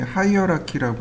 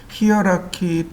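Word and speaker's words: hierarchy: 여기 모디파이 탭 오른편에 하이어라키라고 하는 것이 있습니다. 히어라키 또는 하이어라키 이렇게 두 가지 발음으로 불립니다. 히어라키, 하이어라키.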